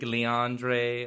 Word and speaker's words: Lingerie: Lingerie. That's how you pronounce it.